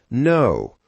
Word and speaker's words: know: English has many words with silent letters, like no, our, or thumb. Let's check a few. Now, not K-no, but no, because the K is silent.